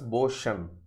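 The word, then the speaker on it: bosun: In our own context, we have to pronounce the word as Boshan, right? So that is the right pronunciation.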